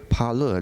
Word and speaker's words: pala: you know actually The Parlor the p-a-l-a the a actually has got a long a you know local of